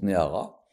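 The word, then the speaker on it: נערה: toujours fasciné je reprends quand on dit Nar et c'est écrit Nar dans le CFER Tora et nous on prononce Nara c'est une jeune fille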